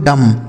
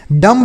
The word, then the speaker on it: dumb: आगे लिखा है दोस्तों DUMB, इसे पढ़ते हैं दोस्तों डम। डम्ब नहीं पढ़ेंगे, यहाँ जो बी लिखा है ना यह साइलेंट है, इसका उच्चारण हमें नहीं करना होता है।